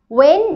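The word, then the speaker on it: when: ওয়েন does হি come, ওয়েন এটার উচ্চারণটা কিন্তু হ সাউন্ড আসবে না।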